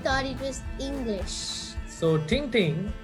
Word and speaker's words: Tintin: So Tintin, or Tang Tang, as it's pronounced in French or the Belgian language, was written by a guy called Herge or Hergé.